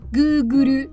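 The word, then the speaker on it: グーグル: 除此以外呢，还有ググル，因为谷歌在日语中读作ググル，所以日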